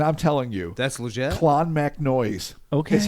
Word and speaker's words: Clonmacnoise: Almost every pronunciation in here, I tried to triple check through various pronunciation websites, and I'm telling you, That's legit? Clonmacnoise is how they said to say it. All right. Okay. Clonmacnoise.